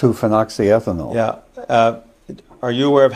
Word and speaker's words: 2-phenoxyethanol: Are you aware of how many micrograms of 2-phenoxyethanol? How do you pronounce it? 2-phenoxyethanol.